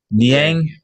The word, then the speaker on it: Niang: Nang, is that how you say it? Niang.